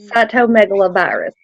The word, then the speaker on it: cytomegalovirus: almost sold and I'm just now learning to pronounce it it yeah it's psycho megalo virus cytomegalovirus and it's a virus that I thought when